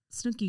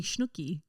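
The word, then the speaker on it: Snooki: Well, also, Ron keeps calling Snooky Schnooky. Schnooky. He Can't say her name.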